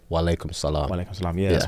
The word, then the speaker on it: wa alaikum salam: And then you would say wa alaikum salam.